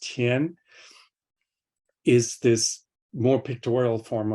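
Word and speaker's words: 天: years as we see on the left side pronounced Tien is this more pictorial form on the right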